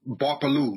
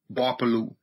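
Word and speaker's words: Gbarpolu: So my county is referred to as Barpalu, spelled with a G. The G is silent. G-B-A-R-P-O-L-U, Barpalu. So Barpalu County, and then my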